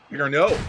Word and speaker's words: Bigger Nex: Bigger no. Bigger no. Bigger no. The X is silent.